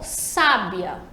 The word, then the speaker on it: sábia: na segunda sabia né então ó sábia a sílaba tônica é os a primeira sílaba acessar sábia e identificada pelo